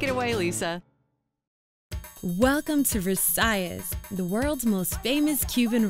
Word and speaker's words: Versailles: thank you sure well we actually need Miami pronounce it Versailles is we don't pronounce in the French we